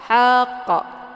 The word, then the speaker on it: haqq: Haqq. Itu bacaan yang salah. Haqq bacaan yang salah. Yang benar dibacanya haqq.